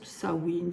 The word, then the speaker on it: Samhain: signifie fin de l'été ce mot gaïic se prononce sawin Samin voilà il y